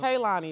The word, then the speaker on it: Kaylani: Is it Kalani or Kaylani? Kayla. Kaylani, right? Okay, I be saying it wrong.